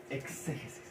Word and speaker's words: exégesis: Nos vamos a concentrar en una sola palabra: exégesis. Anoten eso, exégesis. Con X, exégesis. Exégesis. Exégesis. Con acento en la E, con tilde en la E.